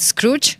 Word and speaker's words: Skroutz: Dimitri sideridis the head of international marketplace at Scrooge am I saying it right is it very